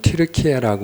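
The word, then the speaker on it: Türkiye: 9월 초에 한 2주 전인데 뉴스가 하나 나왔는데 예전에는 우리가 터키라고 부르던 그 나라, 지금은 티르키예라고 우리가 발음을 합니다.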